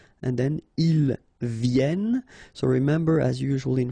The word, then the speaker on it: viennent: Vienne. So remember, as usual in French, when we talk about conjugation, ENT at the end, you don't pronounce it here.